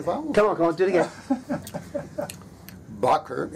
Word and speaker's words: Bakker: name it is pronounced bucer it is Dutch or Holland's okay okay no Bakker bakka closer closer these pommy bastards just can't get their bones come on did again Bakker it rhymes with Rucker that's what the New